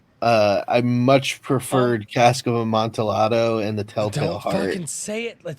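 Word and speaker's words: Amontillado: monato whatever a mon it's Spanish the Double L is pronounced as a y oh my God leave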